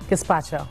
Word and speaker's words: gazpacho: Gazpacho.